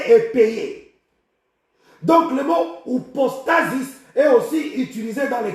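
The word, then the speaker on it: ὑπόστασις: Ici, le mot assurance, nous sommes dans le Nouveau Testament, c'est la traduction du mot upostasis, upostasis. Upostasis s'écrit H-U-P-O-S-T-A-S-I-S.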